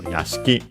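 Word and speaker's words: 屋敷: And accented on the last uh syllable. So Yaski.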